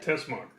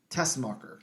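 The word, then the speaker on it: Teschmacher: How do I pronounce that? Tessmacher. Tessmacher.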